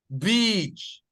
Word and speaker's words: beach: a bit longer guys this one should be a bit longer Beach right Beach if you say that's different meaning okay if you say